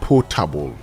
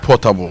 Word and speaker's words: potable: The right pronunciation is potable. Potable. Yes. Not portable. No, it's never portable.